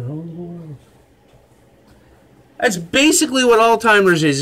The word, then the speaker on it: Alzheimer's: Alzheimer's. That's how you say it.